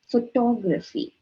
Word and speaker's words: photography: we want to say photography that becomes incorrect it's not photography is for photography we have to break it into three pieces when we pronounce the word instead of saying photo